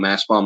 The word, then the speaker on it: Mastbaum: Mass Bomb is spelled MASTBAUM.